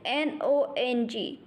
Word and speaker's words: nong: The next pronunciation is N-O-N-G.